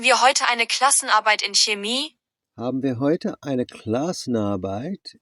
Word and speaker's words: Chemie: Incidentally, I pronounced the chemie a bit better that time. It's a chemie, not a chemie, but wow. Depends who taught you German.